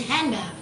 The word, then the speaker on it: hand: not pronounced for example most American English speakers do not pronounce the d in hand so the D they